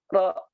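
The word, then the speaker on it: ر: Itu dengan cara menyentuh, menempel di langit-langit lidah kita, ya. Jadi sekali lagi ya, nanti sambil dirasakan ya, sambil dirasakan nanti. Ya, lidah terdekat di sini itu disentuhkan, ditempelkan ke langit-langit mulut kita, langit-langit ya, langit-langit rongga mulut kita itu. Jadi seperti ini bunyinya. Ro, ro.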